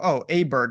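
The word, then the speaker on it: Åberg: a big you know oh aberg and they're just like oh it's like O'Hara and it's like wait what what are we doing here they they changed the pronunciation of my man's name from Sweden very confusing I'm still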